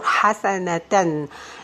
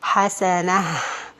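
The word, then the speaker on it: حسنة: alif, but this tanween or this ta is going to be pronounced as ha, like this. Hasanah, rahmah. So it's not going to be rahmata or hasanata, no.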